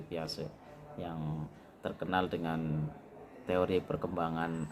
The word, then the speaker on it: Jean Piaget: yaitu tulisannya ya cara bacanya Jin piase banyak mahasiswa yang membacanya salah itu ya Jean Piaget ya ini saya juga dulu pernah membacanya seperti itu tapi dibetulkan oleh salah satu dosen saya bacanya teori piase yang terkenal dengan teori